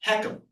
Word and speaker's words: HECM: This is the FHA insured reverse mortgage technically called a home equity conversion mortgage and that acronym HCM is pronounced heekum.